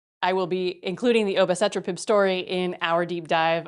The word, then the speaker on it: obicetrapib: It's a new generation CETP inhibitor known as obicetrapib. I think that's how you pronounce it. Obicetrapib. That's it. It has relevance for Alzheimer's